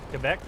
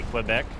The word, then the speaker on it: Quebec: Quebec. Is it Kebec? Quebec. I think I got scolded once. It's not I think um a lot of us Americans would say Quebec, but it's Quebec, right?